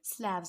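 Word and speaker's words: Slavs: नहीं, यहाँ पे आएगा स्लैव्स बोला जाता था. इनहेबिटेंट्स को क्या बोला जाता था, स्लैव्स बोला जाता था. It's pronunciation is स्लैव्स, नॉट स्लेव्स, स्लैव्स.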